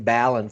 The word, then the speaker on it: Ballin: I keep mispronouncing his name, so Yeah, it's not Ballin for sure. It's Mr. Ballin from Flooring Installers of America.